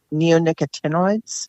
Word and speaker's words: neonicotinoids: the class of insecticide I pronounce it neonicotinoids okay I have heard it pronounced other ways and then I shorten